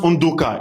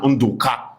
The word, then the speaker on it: Undoka: In fact, it's pronounced Undoka in my own dialect. But when you go to the Igbos, they say na Undoka.